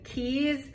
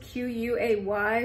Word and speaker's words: quay: do is go explore what they call the keys the way it's spelled is q-u-a-y so my whole time I was pronouncing it